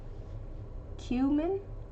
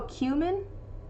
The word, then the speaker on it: cumin: Cumin? Oh, cumin? Cumin. Oh, so cumin versus cumin. Cumin? Cumin? UK. Cumin. Cumin. Ah, it's the UK versus the US pronunciation apparently.